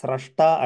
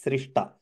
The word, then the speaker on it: स्रष्टा: जगत्स्रष्टा यया त्वया जगत्स्रष्टा Here it has to be pronounced only as Srashta and not as Srishta.